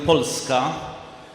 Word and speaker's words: Polska: Poland we pronounce the name of our country polska can you pronounce it in Polish polska and what is frieska this is Poland how